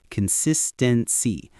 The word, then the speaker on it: consistency: That's the noun consistency. Notice the stress is on that second syllable, sis.